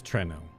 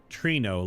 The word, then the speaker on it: Treno: It is Trreno. So, not Trino like a new Trino.